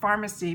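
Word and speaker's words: Farmacy: to to them but they are called pharmacy but it's spelt with an F and I have been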